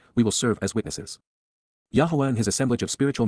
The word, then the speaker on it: Yahowah: Indeed, because, Yahowah, Yahowah, the proper pronunciation of the name of Eloah, God as directed in